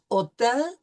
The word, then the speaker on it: hôtel: So in Old French, hôtel would have probably been pronounced more like the word hostel today, which is sort of a cheap hotel, informal hotel that young people generally go to. But in our case, we are going to pronounce hôtel, homme.